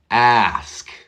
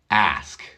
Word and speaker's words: ask: anything anything I ask listen to that hard a sound ask not ask can I ask you